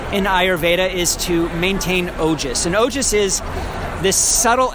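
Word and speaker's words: ojas: a real quick what that is yeah so ogis which is spelled o j a s um it's a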